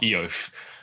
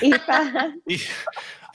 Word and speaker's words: Aoife: So it's not Eo. It's not Eof. Eof. No, it's Aoife.